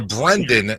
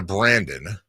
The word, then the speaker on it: Brendan: You're a Brendan, not a Brandon.